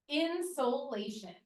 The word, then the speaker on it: insolation: of a word called insolation not insulation I'm not saying it wrong insolation are you ready